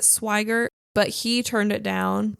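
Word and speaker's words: Swigert: the role of Jack I think you pronounce it swiger but he turned it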